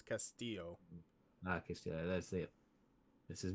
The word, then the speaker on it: Castillo: pronounce this yeah and in Spanish the two L's make a y sound so it's Castillo okay that's it this